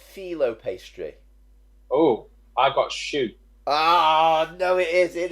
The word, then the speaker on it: choux: It's choux pastry.